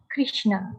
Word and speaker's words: Krishna: The words Hare, pronounced as Hare, Krishna, pronounced Krishna, and Rama, rhymes with drama, are Sanskrit words.